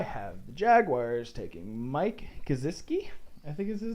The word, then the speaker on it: Gesicki: The official pronunciation is Gesicki. Gesicki.